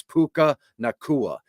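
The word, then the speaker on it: Puka Nacua: I know it's how you pronounce it. It's Puka Nakua.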